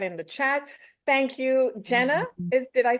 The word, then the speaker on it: Jenna: Yeah, it's actually pronounced as Jenna.